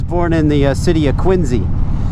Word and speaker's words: Quincy: I don't care how the guy who was named after pronounced his own last name. Times have changed, sir. It's Quinzy.